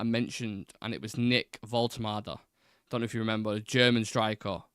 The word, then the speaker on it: Woltemade: We see it on paper, it doesn't look like how it's spelled, but that's apparently how they say it in Germany. You can imagine it, Woltemade. It's got that kind of finger.